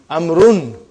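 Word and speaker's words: عمرو: Why do you have extra vav? It is not read. It is not pronounced. It is only written. Why? Just to differentiate between these two. Actually, it is Amrun.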